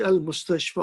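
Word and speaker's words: المستشفى: Remember, al-mustashfa doesn't have a dot because the ya is pronounced like mustashfa, fa, like alif.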